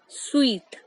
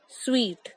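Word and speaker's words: suite: तो जो हमारा बड़ा कमरा होता है, सबसे बड़ा कमरा, उसे हम प्रोनाउंस करते हैं स्वीट। द स्पेलिंग में confuse us, बट the correct method to pronounce is स्वीट।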